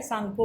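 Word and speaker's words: Tsangpo: होता है सांगपो, सांगपो, T silent है, सांगपो बोलते हैं।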